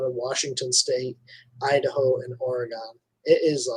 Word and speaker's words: Oregon: It's an O. Oregon. O-R makes the or sound.